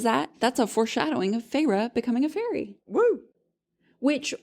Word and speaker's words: Feyre: That's a foreshadowing of Feyre becoming a fairy. Woo! Which, honestly, the second that her first syllable in her name was Fae, I was like, oh yeah, she's going to become a fairy.